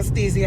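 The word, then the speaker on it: Stysiak: ก็ มี สี ส สตี เซีย นะ อ่าน ว่า สตี เซีย อ่ะ 2 คู่ นี้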